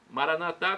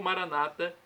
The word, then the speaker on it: Maranata: dialeto de Jesus oramaico Maranata como dizemos nossos católicos ou Maranata com a tônica na penúltima sílaba como dizem nossos irmãos separados os evangélicos ou protestantes não importa a pronúncia o significado é o mesmo vinde Senhor Jesus vem